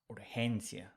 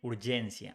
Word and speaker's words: urgencia: Remember the rule with G. When it's followed by E or I, it's pronounced like H in English. So urgency becomes urgencia. We don't say urgencia, we say urgencia.